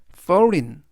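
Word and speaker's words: foreign: 아니고 이음 나는데요 이번 단어에서은 우리말로인 그래서 전체적인 발음은 forin forin forin이라고 발음하시면 되겠습니다 품사는 형용사 뜻은 외국의라는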